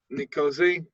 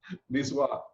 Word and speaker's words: Niçoise: Mushroom and leek tart, salad, nicosi. I don't know how to say it. And a baguette. Niçoise.